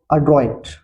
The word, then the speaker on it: adroit: Pronunciation इसका होगा अड्रॉइट, अड्रॉइट।